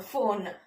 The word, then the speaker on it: phone: okay, and the next one okay, in, phone.